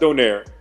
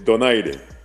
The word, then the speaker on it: Donaire: It's not Donaire, it's Donaire."